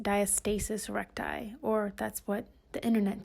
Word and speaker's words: diastasis recti: because I know what is that called like dye actus rectus or something like that so I looked it up and it's actually pronounced diastasis recti or that's what the internet tells me or